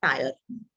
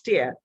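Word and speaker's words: tier: three chair of democracy now t-i-e-r the pronunciation is if you speak it here t double e but when you have to give the pronunciation it's not tire clear so that's different pronunciation it's tear p double e r so the constitution was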